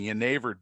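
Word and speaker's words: genever: with a letter J I think it's correctly pronounced yver um and yver derives actually from the I guess it would be the Flemish um spelling and pronunciation of the word Juniper uh and again many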